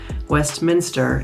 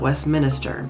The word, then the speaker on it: Westminster: the way it's spelled Westminster is Westminster not Westminister and it's not spelled Westminister but you still hear locals call it Westminister as well but it's Westminster couple of the ones